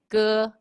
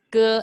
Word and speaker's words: ge: Especially for ge, it's the G sound is ge, it's not j, okay? It's ge like girl, ge.